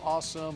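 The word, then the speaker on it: Asim: Why was it so awesome? Well, it was so awesome because of what the Cowboys did on Saturday. They drafted a player in the 5th round who pronounces his name Awesome Richards.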